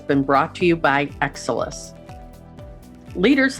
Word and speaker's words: XSOLIS: And Exelis is spelled XSOLIS.